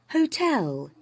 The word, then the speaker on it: hotel: see let's find out Hotel what do you think first or second second second right H tell tell there's more stress on the second syllable who uh okay who